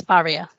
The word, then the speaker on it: Faria: it oh um that's Ferrari for real is that how you pronounce your name yeah I pronounce my name is barrier barrier and so I'll say